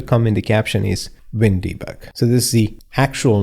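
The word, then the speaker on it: WinDbg: This is the actual word pronounced as wind debug.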